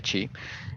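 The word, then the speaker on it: χ: Este símbolo en griego se pronuncia chi y este símbolo en griego se pronuncia ro.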